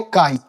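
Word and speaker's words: χ: तो mole fraction को denote करते हैं काई। एक्स टाइप का एक लेटर होता है जिसको हम लोग प्रोनाउंस करते हैं काई के साथ।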